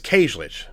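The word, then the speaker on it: Kajlich: So Bianca Kajic plays Sarah Moyer, the new girl or whatever, new final girl. I don't think I pronounced her name right. Let me see if that's true here. So it's Llic.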